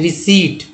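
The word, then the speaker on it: receipt: इसे क्या पढ़ते हैं, रिसीट, न कि रिसिप्ट पढ़ते हैं।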